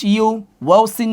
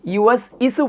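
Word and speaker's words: يوسوس: তাজিম জবর জবর বাবর এখানেও কলকলা বা এর মধ্যে জম ইয়া পেশ ইউ সিন জবর ইউ সিন পে ইউএস আমরা অনেকেই ইউএস ইসু পড়ি ইউএস ইসু ভুল উচ্চারণ শুদ্ধ উচ্চারণ হবে ইউসু সূরা নাসে আছে না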